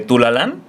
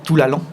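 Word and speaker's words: Toulalan: que te dije de Tulalán. Ah, sí, cierto. ¿Cómo cómo lo pronunciaste? Se pronuncia Tulalón, pero pues si dices tulalán está bien.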